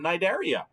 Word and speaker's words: Cnidaria: look at the name naidaria the sea is silent the sea is silent because these critters live in the sea so they can't hear